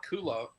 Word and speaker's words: culotte: They called it culotte.